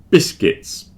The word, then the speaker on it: biscuits: Biscuits. Biscuits. Biscuits are biscuits, they're not biscuits. There's no U in there, don't pronounce that U.